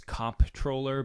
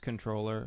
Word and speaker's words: comptroller: government thing where you the word is comp troller but no pronounced controller no if if that